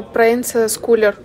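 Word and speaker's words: Proenza Schouler: Правильно, Прайнза Скулер. Это немецкое имя. Ударение получается на первый слог.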